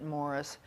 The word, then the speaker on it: Maurice: of which UN agenda Maurice he pronounces it Morris Strong was director President